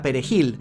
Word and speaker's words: perejil: voz alta la palabra Perejil de difícil pronunciación para los haitianos debido a la r del Fran francés claro no sabía que